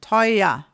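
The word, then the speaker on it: teuer: But we don't even say this r at all with an r sound. It is an a. And that is complete standard German pronunciation. Toya.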